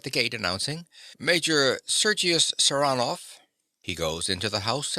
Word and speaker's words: Saranoff: him around this way he pronounces the name with a stress on the second syllable saranov Nikola yes sir he